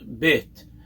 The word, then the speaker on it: Bet: no dot in it, that second letter, Bet, is pronounced as a B sound. It's never pronounced as a V, as nowadays it's become